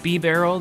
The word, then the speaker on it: Bibarel: bit of lag there but I switched into bibarel I was recently corrected by the one the only the highly respected and awesome trainer best west about my beret I'll print pronunciation it is B barrel that is the correct way to pronounce it